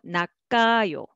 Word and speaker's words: 낚아요: Here, syllable by syllable, 낙아요, but together, 낚아요, 낚아요. Okay, 크 will be carried over and pronounced as the second syllable.